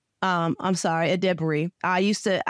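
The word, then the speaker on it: Edebiri: about I um um edber um I'm sorry aded debery I used to I used to pronounce her name wrong you guys so now I'm pronouncing it right but ad Dey and that is the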